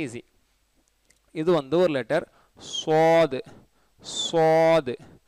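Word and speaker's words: ص: இது வந்து ஒரு லெட்டர், சாது சாது, சாதுன்னு சொல்லக்கூடாது, ஷாதுன்னு சொல்லக்கூடாது. சீன் உச்சரிப்பு வச்சு சொன்னீங்கன்னா சாது தப்பு, ஷீன் உச்சரிப்பு வச்சு சில பேர் சொல்லுவாங்க ஷாத், அதுவும் தப்பு. இது சாது சாத், அதையும் சில பேர் சூ சொல்லி சுவாதுன்னு சொல்லுவாங்க, அதுவும் தப்பு.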